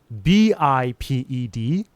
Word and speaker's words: biped: B I P E D. Biped. rhymes with high red.